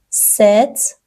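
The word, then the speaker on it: sept: املاش مشابهه ولی سیست تلفظ میشه ست پی وسطش خونده نمیشه ست هفت ویت ۸ ۸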